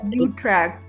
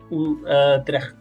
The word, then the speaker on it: Utrecht: So it's basically U for you, and then it's Utrecht. So yeah, so basically, I think I'm not sure if I am 100% on the Dutch pronunciation, but it's close to that, yeah.